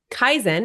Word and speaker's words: Kaizen: got so excited and named my business that Kaizen is a Japanese word meaning continual Improvement so